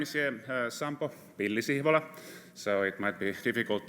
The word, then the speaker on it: Sampo Pilli-Sihvola: but anyhow uh so my name is yem sampo bilisibola so it might be difficult to pronounce but it's also difficult to pronounce the